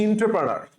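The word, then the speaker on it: entrepreneur: আসো আমরা ফাস্টে ঢুকি প্রশ্নটা এই যে ইন্টারপ্রেনিয়ার উচ্চারণটা হচ্ছে ইন্টারপ্রেনার তো আমরা সঠিক উচ্চারণটাকে একদম জবাি বানাবো কিন্তু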